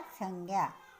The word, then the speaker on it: संज्ञा: इसका प्रोनाउंस क्या करने का, संज्ञा। ज्ञ, मराठी में ज्ञ बोलते हैं और हिंदी में ज्ञ।